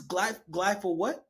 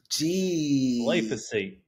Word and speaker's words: Glyphosate: How can you pronounce what this is? Glyphosate. Glyphosate.